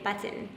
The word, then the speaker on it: button: We don't pronounce our T's in Utah, okay? I know, So they it's always kitten. make fun of how you say button.